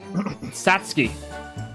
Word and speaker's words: Satsuki: Satsuki.